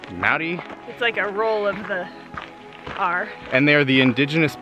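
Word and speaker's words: Māori: our driver is a Maori person it spelled em a o RI to us it looks like Maori but it is pronounced Maddy and they are the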